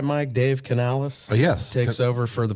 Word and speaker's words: Dave Canales: Dave Canales? Yes. Takes over for the Panthers. Yep. Wasn't sure if I was pronouncing that right.